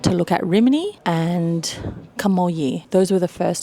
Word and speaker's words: Camogli: Our choices were Genoa, Sori, Camogli, which I was pronouncing the entire time Camogli, but it's Camogli.